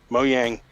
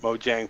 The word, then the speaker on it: Mojang: funny thing is like a lot of times even moyang themselves will sometimes pronounce it Mojang probably just trying to pronounce it properly in English but yeah like I think I've heard them to pronounce it both ways sometimes they pronounce it Mojang sometimes they pronounce moyang so I'm not really